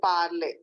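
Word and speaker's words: parlé: o n t el zo el zo and parley So, what it is?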